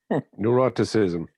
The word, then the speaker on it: neuroticism: Neuroticism. Neuroticism, yeah, that one. Yeah. Yeah, it rhymes with eroticism.